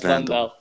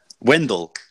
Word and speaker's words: Wendell: No, not Vandal. Wendell. That's his name.